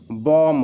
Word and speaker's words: bomb: बी का pronunciation यहाँ पे नहीं करते हैं। यदि बी से पहले एम का यूज हुआ है तो बी साइलेंट रहता है।